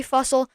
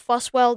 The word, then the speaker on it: Fussell: who are watching that it's Fussell not fuss well that's my that's my